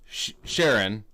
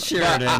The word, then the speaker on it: Sheeran: And actually, it is Ed Sheeran. It is Ed Sheeran, yeah. But not Sheridan.